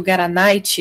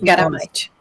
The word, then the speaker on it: Garamite: Professora Iriamar, a senhora pode falar um pouquinho mais sobre o Garanite? Eu não sei se é assim que pronuncia. Garamite, é com M. Garamite.